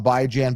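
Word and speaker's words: Bijan: So, so I I I'm a big by Jan guy and if you get for you people that haven't heard, I call him by Jan. By as in bi-weekly, Jan as in rand by Jan.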